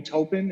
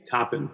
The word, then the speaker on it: Toppin: draft I represented Obi topan is that how you pronounce his name it's toppen but uh I don't even